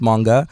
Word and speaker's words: Moonga: socials basically yes the socials um so it's pronounced manga um and the full artist name is manga